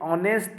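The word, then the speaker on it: honest: और एन ये ऑनेस्ट और एन आवर, ये एच हमारे साइलेंट वर्ड हैं, इसके आगे भी आर्टिकल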